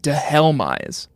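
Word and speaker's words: Dhelmise: Pokemon names we'll go with the official Bulbapedia pronunciation de helise de helise for this one sounds great anyway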